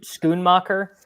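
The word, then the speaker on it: Schoonmaker: comes Titans we've got Luke how do you pronounce his last name Musgrave he's out no no s c h o o n scoon mocker yeah yeah he also he's like a third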